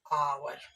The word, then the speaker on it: hour: एक और वर्ड ले लेते हैं जैसे आवर, HOUR, क्या पढ़ेंगे हम लोग, आवर।